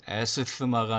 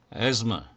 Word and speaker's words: asthma: 세 번째 것은 asthma가 아니고 asthma.